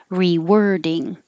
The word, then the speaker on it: rewording: war war rewarding and 49 is spelled with an o but it sounds like an e like were like where were you rewording so 48 rewarding 49